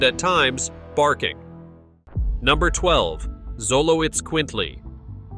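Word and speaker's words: Xoloitzcuintli: Number 12, Zoloitz Quintley. Pronounced Xolo eats quintly, the Zoloitz Quintley is more than a dog.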